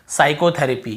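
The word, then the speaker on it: psychotherapy: और उसके बाद देखिए साइकोथेरेपी, क्या बोलते हैं, साइकोथेरेपी। यहाँ पे आपको पता चल गया पी साइलेंट है ना।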